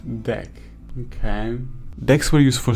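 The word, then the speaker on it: deque: so I can analyze a working project Becky pronounced deck okay decks were used for story memories which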